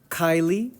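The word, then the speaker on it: chyli: body and so this is called cisterna Kylie like the actress or the singer I'm not sure what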